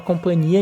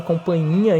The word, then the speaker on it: companhia: Se bem que esse H aqui não se pronuncia também, né? Todo mundo fala companhia, ninguém fala companhinha.